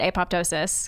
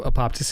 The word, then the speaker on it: apoptosis: There's actually some debate. There's some debate on how it's pronounced. I like to say it apoptosis because it's just fun to say. Yeah. Nice mouthfeel. So apoptosis is the other one? But some people say apoptosis, or like some professors